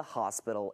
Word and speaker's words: hospital: for has to be paid for by the hospital itself.